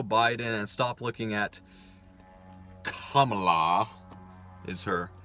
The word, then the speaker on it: Kamala: Let's stop looking at Joe Biden and stop looking at Kamala, is her name, apparently. That's the proper pronunciation, as the left is just like so obsessed with properly pronouncing it, Kamala Harris.